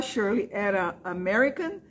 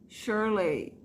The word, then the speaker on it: Shirley: é sempre enrolado né Se for American a Shirley not Sirlei é y no final é pronunciado i assim como Disney Land Disney